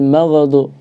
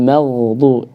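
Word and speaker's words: مغضوب: Jangan sampai ghairil maghdu. Ya. Tapi juga jangan terputus. Ghairil maghdu. Nah, yang benar dia ini jangan mantul, jangan terputus. Ghairil maghdu.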